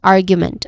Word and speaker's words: argument: Following this word is a soft an and then following that is argument which has three syllables. The stress is on the first syllable which is r which is a short uh vowel sound.